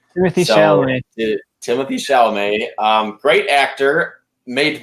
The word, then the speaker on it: Chalamet: And I think Timothy Chalamet is a great guy to pull it off.